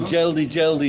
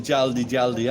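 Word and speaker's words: जल्दी जल्दी: I was saying Jeldi Jeldi instead of Jaldi Jaldi. I was pronouncing it wrong.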